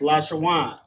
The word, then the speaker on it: Lashawan: For example, there's we have lash shawan right here. So we have la wa I'm sorry la sha w and n. That's lash shawan.